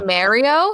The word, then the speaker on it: Mario: We'll dress as Mario and Luigi. Yeah, we'll dress as Mario and Luigi. You say Mario? It's Mario. Mario. Yeah, it's Mario.